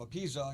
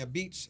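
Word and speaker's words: apizza: say it right so instead of a pizza you say a beats say it the right way say it right a beat a be a beat say it right beats I love it yeah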